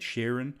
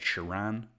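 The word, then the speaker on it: Sheeran: of You by Ed Sheran or as Alfred always calls him Ed shiran um still unsure why he pronounce it like that but always a pleasure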